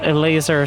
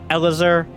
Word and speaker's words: Elazer: citation needed but uh a laser saying that's how you say it not elizor not e or el azer no e laser i don't i don't